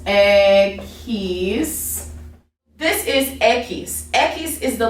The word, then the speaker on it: equis: ube whatever um so then now we have equis egg he's this is equis ekis is the letter x okay now x a